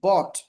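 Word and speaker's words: bought: একটা টি থাকে টি, তাহলে উচ্চারণটা অট, অট হয়, অট উচ্চারণ হয়। যেমন দেখুন বি ও ইউ জি এইচ টি, বট, বট অর্থ কি কিনেছিল, বট।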